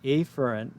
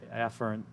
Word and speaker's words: afferent: mispronounce it and say afferent like a letter a and then e fern so i'm going to say a fern and ephraim just to make it very clear what